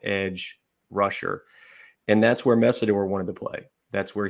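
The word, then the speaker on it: Mesidor: I think it's pronounced Messidor, right? Correct.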